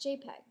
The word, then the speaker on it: JPEG: you've probably heard of a dot jpg pronounced jpeg it stands for joint